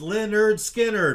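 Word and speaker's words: Lynyrd Skynyrd: currents by tim impala 381 pronounced leonard skinner by leonard skinner all still can't spell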